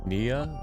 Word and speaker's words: Neyyah: Nia. Nia. That was the pronunciation that we learned last time.